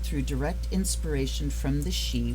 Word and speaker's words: Sidhe: A vivid and powerful 78 card deck, painted through direct inspiration from the she, which is spelled S-I-D-H-E, but it is pronounced she, the ancient Gaelic name for the noblest order of the fairy race.